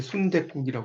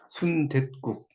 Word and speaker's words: 순댓국: 나오죠 순대와 국도 이제 순대국이라고 이렇게 순대 순대국이 아니라 순댓국 이렇게 이제 발음이 되는 거죠 순대 그